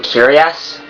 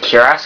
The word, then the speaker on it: cuirass: I used to call them Curious when I was little, and up until late this year, when I was about to acquire this game, I found out that it's actually pronounced Cuirass because it doesn't have an I or anything.